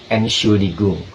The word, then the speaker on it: Entschuldigung: Kayak misalnya contoh kata Entschuldigung, itu dibacanya sebagai E, Entschuldigung, artinya excuse me, Entschuldigung.